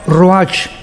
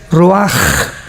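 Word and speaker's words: ruach: h, que se pronuncia roach, pero en el hebreo es roaj. La ch en el hebreo es como J.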